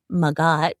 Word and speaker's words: Magat: Yeah, Natalie, you touch It's Magat is my full name and I used to hate saying Maggot because it's so hard to pronounce for people.